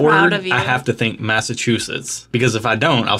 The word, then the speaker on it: Massachusetts: by people for saying Massachusetts that I had to start remembering that there's a chew in the middle of it and that's the only